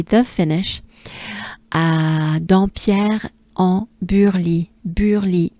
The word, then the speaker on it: Burly: Burly. U. Right? The droopy sound. It's the French droopy sound, right? So, be a droopy, a French droopy, and you pronounce it U. You drop everything, you close it. It's not fully closed. Your mouth is not fully closed, but close. U, right?